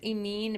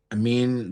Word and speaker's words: Amin: Who is Emin Mezian? Amin, by the way, is Amin, by the way, is how to pronounce it.